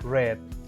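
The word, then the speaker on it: read: es leer y tenemos red a pesar de que ellas son iguales la pronunciación va a cambiar esta palabrita en pasado va a ser pronunciada como el color rojo en inglés para ver un poquito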